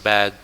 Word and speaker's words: bag: Ingat pengucapan bag, jangan back. Backnya punggung. Bag. G-nya dirasain.